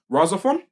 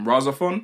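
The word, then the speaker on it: RahXephon: don't really watch mecha stuff, but it's called Rosa Fun. Have you heard of that? No. So it's similar to that's spelled RAH capital X EPHON.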